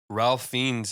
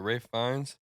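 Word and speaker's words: Ralph Fiennes: things the adaptations where Ralph fiends is portraying raes what Rafe fines his name is not Ralph not pronounced R it's not F whatever Rafe fines it's crazy I think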